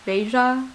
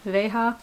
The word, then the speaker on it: Veja: a lilac v right here i think they're pronounced beija veja anyways i usually don't like to buy things